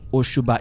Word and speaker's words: Osuba: Ushuba is spelled Osuba.